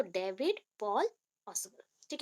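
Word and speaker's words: Paul: सो David पॉल ऑसबल। ठीक है, अभी कोई कोई पाउल भी बोलता है, अभी प्रोनाउंसिएशन के अकॉर्डिंग है, आप जैसा याद रख सकते हो वैसा कर लो।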